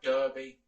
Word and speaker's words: derby: Derby, spelt derby, pronounced derby.